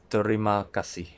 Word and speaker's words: Terima Kasih: this word very accurately, you really have to pronounce the "R" sound "Te(r)ima Kasih". Let's use AIUEO technqiue to pronounce this word, "Te" in "Terima", AIU(E)O "Ri" in "Terima", A(I)UEO "Ma" in "Terima", (A)IUEO "TE-RI-MA, KA-SIH" If you think it is